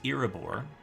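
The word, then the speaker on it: Iraebor: name is saranoth t-s-e-r-n-o-t-h which i think i mispronounced the first time through pardon me and the city is irrebore i-r-a-e-b-o-r well we have a name and a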